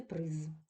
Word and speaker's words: приз: говорили про те що в кінці слова приголосні дзвінки звуки не оглушуються вони повинні умивлятися чітко дзвінко я вам маю віддати приз далі вони поїдуть або